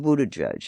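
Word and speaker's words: Buttigieg: boys, Bernie, Biden, Betto, and Buddha Judge. And yes, that is how you pronounce it. He's the latest new phenom, the mayor of Southbend, Indiana, Pete Buddha Judge.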